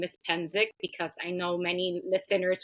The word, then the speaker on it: Psencik: I'm used to it I don't get offended hensic is how you pronounce that last name thanks to my amazing